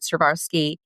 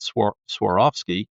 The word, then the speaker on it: Swarovski: the learning and development in your time at Servarski did that help and I probably mispronounced that so correct it a little I I'll I'll train you right now.